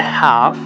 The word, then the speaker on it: half: So a half. So we don't pronounce L. L is mute silenced.